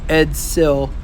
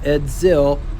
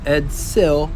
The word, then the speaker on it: Edsel: Edsel, not Edzil. Edsel.